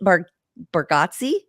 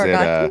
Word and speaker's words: Bargatze: It was Nate Bargatze.